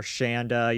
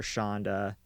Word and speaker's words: Shanda: So before we start, there has been multiple pronunciations of the victim in question's name by her family and friends, so just keep that in mind. You hear Shanda, you also hear Shonda.